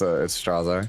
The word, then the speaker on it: Straze: People made fun of me for years, but even the Koreans say it's Straze.